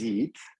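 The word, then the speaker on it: Yiğit: My name is Yeet. As you see my name, Y-I-G-I-T. G is silent. It's a Turkish name.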